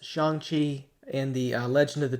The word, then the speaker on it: Shang-Chi: First of all, I want to take a look at the trailer for, I believe it's pronounced Shang-Chi and the Legend of the Ten Rings.